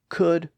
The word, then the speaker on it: could: So could got its silent L to match would and should in the 1500s, shortly before the time of John Hart.